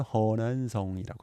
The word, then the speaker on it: 허난성: 이걸 중국식 발음은 허난성이라고 합니다.